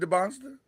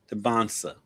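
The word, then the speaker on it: Dybantsa: Is it Debonsa? Dansa.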